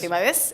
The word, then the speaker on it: Fibades: Fimades. Fibades, es con acento en la E, analista de mercados internacionales.